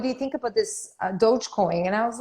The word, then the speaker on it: Dogecoin: um and he also you know when the dogecoin am i pronouncing that right yeah yeah when that whole